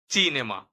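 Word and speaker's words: cinema: কল্প কল্প কুলতুরা কুলতুরা আবার দেখুন চি এর সাথে যদি এ বা ই এই দুটো বর্ণের কোন একটি যুক্ত হয় সেক্ষেত্রে উচ্চারণ হবে চ এর মত বা চি এর সাথে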